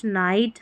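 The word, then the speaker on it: night: तो इन सभी स्पेलिंग्स में GH साइलेंट है और आई को आई पढ़ा जा रहा है, जैसे लाइट, नाइट, हाई, राइट, ब्राइट।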